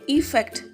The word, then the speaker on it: effect: EFFECT, इसको pronounce करना है इफ़ेक्ट। ई का प्रोनाउंसिएशन यहाँ पे आना चाहिए।